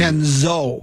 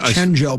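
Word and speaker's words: DiVincenzo: uh his three-point shooting chenzo chenzo not Cheno but chenz I know I thinken yeah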